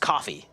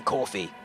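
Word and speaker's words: Ko-fi: Um so it's it's actually pronounced coffee um than Kofi, but that's the idea of it.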